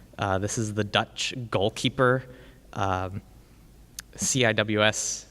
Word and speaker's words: CIWS: is the Dutch goalkeeper ciws stands for close-in weapon system sometimes pronounced C Wiz which sounds really funny to me but if you know